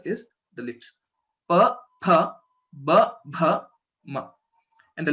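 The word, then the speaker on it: फ: So a few people pronounce this letter, the second letter in pavarga, as fa. Okay, but the right pronunciation is pha because both our lips should come together.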